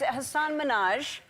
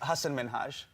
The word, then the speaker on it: Hasan Minhaj: And it's Hassan Minhaj. No. Yes. No. Really? Well, my name is Hasan Minhaj.